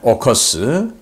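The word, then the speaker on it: AUKUS: 네, 오커스, 오스트레일리아, 그리고 UK, 영국이죠. 그리고 이제 US, 미국 해서 그걸 합성해서 오커스라고 읽는데, 이 오커스 필러 1,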